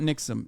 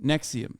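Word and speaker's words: NXIVM: the leader of the nixum I don't know how to say it correctly uh sex cult uh leader who's currently in prison for sex trafficking Nexium not Nixon Nexium sorry not only has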